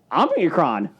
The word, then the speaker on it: Omicron: I just find it amusing how you can't pronounce a simple word. It's Omicron.